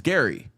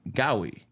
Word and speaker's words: Gary: it, my name is Gary. Obviously, there's a R in there. Yeah. So, I used to pronounce my name Gowi and people Oh, you know how the kids used to go at me, bro?